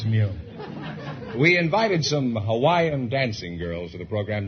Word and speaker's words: Hawaii: or thousand I'm from Hawaii Hawaii is that the correct pronunciation I thought it was Hawai no that's not right uh Hawaii is correct oh you couldn't say